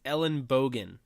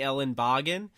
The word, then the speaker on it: Ellenbogen: to say it yes so it is Ellen bogan it actually means elbow and German but people will call me Ellen bogging I've gotten Ellen toboggan which there's no T